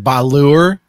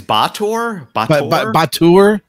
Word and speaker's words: Batur: But I'm going to go with the Balur, your pronunciation there. I think it's Batur. Batur. That's my best guess.